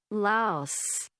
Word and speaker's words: Laos: Laos. That for the win. What is that? Sounds like Lowe's. Laos. Laos. The correct cor connect the correct the correct pronunciation has la. Laos rhyming with house.